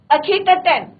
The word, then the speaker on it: Akhetaten: और सिटी कहां से बदली, कैपिटल कहां चेंज कर दिया, थेब्स टू अखेटाटेन। तो ये थोड़ा सा जो है डिफरेंस है स्पेलिंग से, तो आप उसको देखें और तभी प्रोनाउंसिएशन करें।